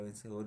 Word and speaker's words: vencedor: En este caso la palabra vencedor es aguda, pues se carga la voz en la sílaba dor, en la última.